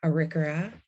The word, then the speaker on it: Arikara: And I just want to say Whirlwind is Arikara, so we can get that pronounced correctly.